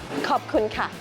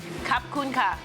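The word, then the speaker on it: ขอบคุณค่ะ: Khop kun ka. Kap kun ka.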